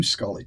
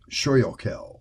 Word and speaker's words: Schuly: The problem is the Y is silent, and Y usually isn't a silent letter. So I get a lot of phonetic attempts, like Schuylkill or Schuylkill, which make perfect sense.